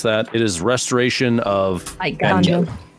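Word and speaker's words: Eiganjo: I don't know how to pronounce that. It is Restoration of Iganjo. Iganjo, there you go, which gets a lore on it.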